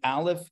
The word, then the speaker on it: aleph: first letter is silent alif is silent it has no sound of its own okay so that is